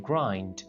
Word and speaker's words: grind: अब कुछ लोग इस वर्ड को grind बोल रहे होते हैं, जो कि wrong है। इस वर्ड की प्रोनाउंसिएशन है grind, grind, grind the teeth।